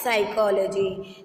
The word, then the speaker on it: psychology: P అనేది ఏంటి? Silent letter. So it pronounced as psychology.